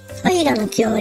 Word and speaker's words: 平清盛: 平の清森って読むんだ。のって入るんだね。平の清盛、平安時